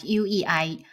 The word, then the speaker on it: ui: So U and A, put them together, wa, and then wo, UAI, y, and then UI pronounced as UEI. UI should sound like UEI, way, then UAN, one, and